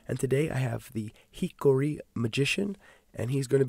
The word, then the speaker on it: Hikuri: And well, I can hear you sound like having trouble pronouncing how I want to be called is yes. Hikori.